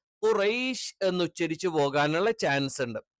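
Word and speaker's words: قريش: ഇത് ആ അക്ഷരമല്ല മറിച്ച് എന്താണ് ക എന്ന് പറയുന്നതിന്റെ കുറച്ചുകൂടി ബാക്ക് സൈഡ് എന്ന് അപ്പൊ നാവിൻറെ ആരംഭം അഥവാ നാവിന്റെ മുരട് എന്ന് നമുക്ക് പറയാം അതിനു നേരെ മേലുള്ള അണ്ണാക്കിന്റെ മൃദുലമായ ഭാഗം അല്ലെങ്കിൽ ചേർത്തുവെച്ചുകൊണ്ടാണ് നമ്മൾ എന്ത് ചെയ്യുന്നത് ക എന്നുള്ള ഉച്ചാരണം പറയുന്നത് നമ്മൾ ഈ കാക്കയുടെ ഒക്കെ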